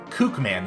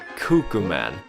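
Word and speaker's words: Cukeman: that is so weird Kook man is the official name by the way cuckoo man no just Coop man how do you spell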